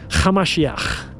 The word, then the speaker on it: Hamashiach: His real name was Yeshua, Hamashiach. That's how you pronounce it in Aramaic.